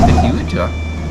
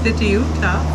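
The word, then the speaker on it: Fitiuta: However, Fitucha, how do you say it? Fituta.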